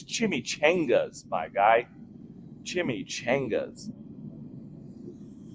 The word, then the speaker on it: chimichanga: You spelt it wrong, or you pronounced it wrong. It's chimichangas, my guy. Chimichangas. Chimichanvas, is that like chanclas?